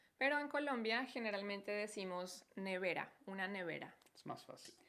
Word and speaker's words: nevera: Nevera. Muy bien, recuerden, la pronunciación es Nevera.